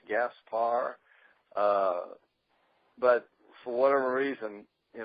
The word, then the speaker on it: Gaspar: is probably the main problem believes should be pronounced Gaspar but for whatever reason you know growing up my parents always said Gasper and is this the correct pronunciation probably should